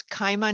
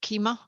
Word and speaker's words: Kaima: been mispronouncing your client it's kaima not keema yeah you're close enough